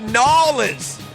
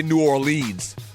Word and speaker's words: New Orleans: they travel down to nans that's the way you pronounce it n you don't say New Orleans if you say that you're instantly a tourist they know you're a